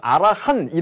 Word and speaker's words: 아라한: 할 때 알아 1입니다 그래서 암호화한 이라고 하는 1 티는 묵음 이고요 아라한이 라고 하는 이상향의 인간관을